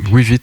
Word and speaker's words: Weaviate: Je sais pas comment ça se dit. Weavit, j'ai l'impression qu'on prononce Weavit.